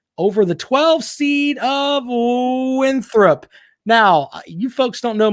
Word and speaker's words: Winthrop: It's Winthrop. Make sure you pronounce it right.